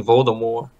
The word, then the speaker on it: Voldemort: The Marvelous Ironwood Voldemort it's actually Voldemort there's no tea no it is Voldemort yeah but you don't save the tea the tea is silent it's called a more